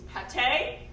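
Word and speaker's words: Pâté: being told off stage it's not pronounced paint it's pate yeah uh then we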